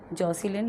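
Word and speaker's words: Jocelyn: सो आपका जो right option है वो हो जाएगा बी, जॉसिलिन। लेकिन यहाँ पर भाई इसकी जो स्पेलिंग है ना वो गलत दे रखी है, जैकोलिन नहीं है, इसकी स्पेलिंग होती है जॉसिलिन, JOCE।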